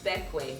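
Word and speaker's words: Bequia: the grenadines specifically the island of beckway which is spelled b-e-q-u-i-a which means island in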